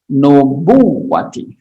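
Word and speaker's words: النبوة: istilah kenabian badan nubuwati Bacanya adalah nubuwati ifadatul Hilmi ifadatul Ilmi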